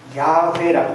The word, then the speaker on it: 야훼: 여호와라는 말은 히브리 말인데 원래 히브리 발음대로 하려면은 야훼라고 해요.